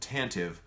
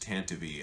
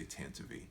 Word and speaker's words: Tantive: first is the tantive 4 now I said tantive I am aware it is actually pronounced tanavy as per the radio dramas the audio books and the official Lucas film Canon but I don't say tantivy except for the purposes of explaining why I